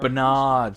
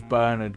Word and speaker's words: Bernard: I broke into your Berard Berard that's why I don't remember broke into your piggy cuz his name's Bernard but he's saying it wrong doesn't ring a bell